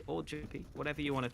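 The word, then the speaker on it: jamppi: I know that the Finns don't like to pronounce their J's, I don't think.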